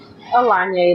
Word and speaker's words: Alanye: Alanye, like Kanye.